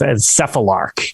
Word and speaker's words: Cephalarch: But yes, I believe the correct way. Yeah, it's Cephalarch.